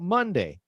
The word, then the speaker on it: Monday: So let's talk about Monday. Monday is the first day of the work week. So mun rhymes, hema, mun rhymes with one.